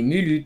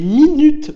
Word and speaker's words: minutes: Des mulutes, c'est des mulutes, Eden, c'est tout. Des minutes, oui, des minutes.